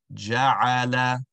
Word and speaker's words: جعل: Wallahu ja'ala. Ensuring that the sounds are the same. The lam sounded dragged. Ja'ala. Rather, the lam is just a short sound. Ja'ala.